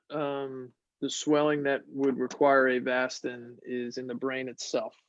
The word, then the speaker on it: Avastin: Am I saying it right? Avastin? You are.